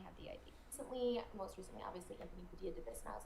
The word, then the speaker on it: Anthony Padilla: I would like to, Anthony Padilla. Anthony Padilla. I want to emphasize that. I apologize for saying your name wrong at least 60 times in that first reaction video.